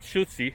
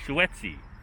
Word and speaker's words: Schuetze: the dedication to uh william henry schuetze not schutzey as you can see it's here it's spelled uh here spelled uh h e u t z e it's actually spelled s-c-h-u-e t-z-e swetzy so they made a